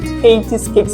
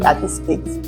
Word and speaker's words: Katy's Cakes: cakes so it's usually it's actually Katy's cakes not Katy skates yeah it's Katy's cakes